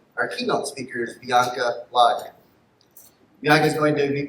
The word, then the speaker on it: Lager: pronounce my last name, because it's just like the beer, you know.